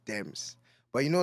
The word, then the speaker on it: D3mz: that is that deems I'm like nah it's Dems but you know like that's why there's a